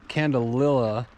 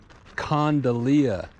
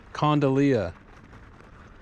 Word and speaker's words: candelilla: is called the rock quarry trail so i pronounced it wrong it's not candelilla it's condylia condolia the name condolia meaning little candle in spanish